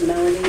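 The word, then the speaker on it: Melony: So is it, only the way it's spelled here is correct? It's M-E-L-O-N-Y, right? Yes. Melanie.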